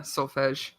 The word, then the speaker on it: solfege: So that's how you say it. Yeah, solfege. I've It's been saying the- it wrong this whole time.